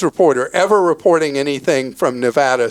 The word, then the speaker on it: Nevada: Sincerely, every born and raised Nevadan, Leah. Got it. You want to try it now? Nevada. Nevada, not Nevada. Everybody in America, every news reporter ever reporting anything from Nevada says Nevada around the country.